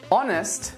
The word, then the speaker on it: honest: H is a big one, and there are a lot of words with silent H letters. Ache, anchor, architect, chaos, charisma, choir, chord, echo, honest, school, stomach.